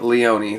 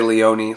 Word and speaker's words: Leone: I'm not sure how you pronounce it. I say Leone, like Sergio Leone. That's just me. But so I'll say Sergio Leone because that's how I hear most people say it.